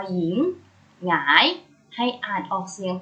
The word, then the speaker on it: หญิง: ตัว ที่ นำ เช่น คำ ว่า หญิง หอ ยอ อีก โง่ หญิง ให้ อัด ออก เสียง พยัญชนะ ยอ หญิง หงาย ให้ อ่าน ออก